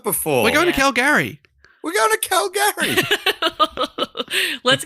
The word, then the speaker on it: Calgary: Wait, has Calgary got Gary in it? Yes, it's Calgary. Calgary. Let's be honest. They're saying How it have I wrong. never noticed that before? We're going Yeah. to Calgary.